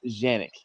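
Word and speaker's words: Canik: It's because Canic has said that in America, we'll pronounce it the English way and not the Turkish way, which is Canic and not Janick.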